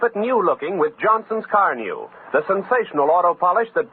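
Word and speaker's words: Carnu: your own pleasure buy a can of Johnson's car new right away it's spelled c-a-r-n-u this is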